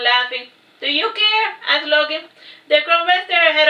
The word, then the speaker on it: Loki: I am Loki, pronounced Loki.